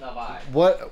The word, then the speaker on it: Navi: Not a Navi. It's pronounced Navi.